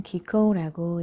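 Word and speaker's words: 喜幸: 그것을 일본말로는 기코우라고 읽는다네요.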